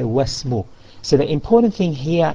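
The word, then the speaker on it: وَاسْمُ: So even though it's written there, but we drop it in pronunciation, and instead of saying Wa Ismu, we say Wasmu. Wasmu. Instead of Wa Ismu, we say Wasmu.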